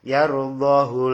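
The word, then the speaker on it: يَرْضَهُ: semua tetapi di sini hunya tidak dibaca panjang tidak ada tambahan wawu di belakangnya jadi bacanya yarudahu lakum Silakan dicari nanti surah Azzumar yang kedua.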